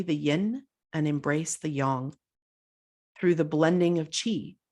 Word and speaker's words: yang: white portion is the Yong and you may notice that I'm saying Yong not yang this is how it